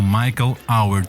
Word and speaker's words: Michael Howard: mais com esta mestra em Nova York, no Michael Howard Studio. Como é que dirias? Como é que se diz esta escola, com a pronúncia certa?